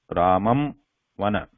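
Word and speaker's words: रामं वन: Whereas in the second one, I am pronouncing these first word and the second word together. So how it sounds is Ramam Vana. Ramam Vana. So there is no complete pronunciation of ma word here. And the sound is supposed, the Anuswara sound is supposed to come completely through the nose.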